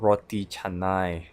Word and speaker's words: Roti Canai: "Roti Canai" is the famous pancake in Malaysia Most people failed to pronounce it correctly "RO-TI, CA-NAI" (listen to how I say it) It is called